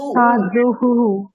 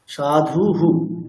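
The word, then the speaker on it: সাধুঃ: তাহলে উচ্চারণটি কেমন হবে সাধু বিসর্গ আছে উচ্চারণটি কেমন দাঁড়াবে তাহলে সাধু সাধুহু সাধুহু ঠিক আছে সাধুহু আচ্ছা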